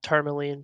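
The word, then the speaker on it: Termalaine: It was tourmaline, just spelled Tourmaline. like tourmaline. Tourmaline. Yeah. T-E-R... Tourmaline. T-E-R-M-A-L-A-I-N-E. Tourmaline. Oh, so not spelled like tourmaline, the stone.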